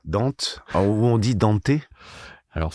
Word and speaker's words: Dante: ça et qui disaient eux danté. OK. Alors, quelle est la bonne prononciation ? Moi, j'irais plutôt tendance à dire Dante parce que la Divine Comédie Bah moi aussi. Donc comme Dante, on a toujours dit Dante. Dante. Après euh je sais parce que eux ils prononcent peut-être à la à la japonaise peut-être, je sais pas du tout.